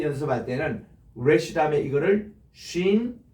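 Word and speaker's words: שין: 요 모양에서 점이 오른쪽에 있으면 쉰이라고 할 겁니다. 쉰. 그리고 요게 왼쪽에 있으면 신이라고 읽어요.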